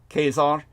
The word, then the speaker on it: Caesar: the correct pronunciation because kesar in the Latin is pronounced just as if it's with a K Kar and that's where we